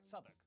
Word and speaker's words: Southwark: stir leicester worcester gloucester w at the start of the final syllable is silent norwich beric southwark er is pronounced ah